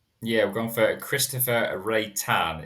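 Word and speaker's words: Reitan: Yeah, we've gone for Christopher Ray Tan. It's R E I T-n if anyone wants to look it up but pronounced Ray Tan for what I'm reliably informed but he has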